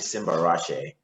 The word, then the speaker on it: Simbarashe: is Simba so my full name is actually Simba rashe and um yeah and Simba Rashi actually means